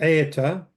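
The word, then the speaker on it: ܥܕܬܐ: Okay, and then Eeta is church. And then the plural is Eedatha. Eeta, the daleth is not pronounced.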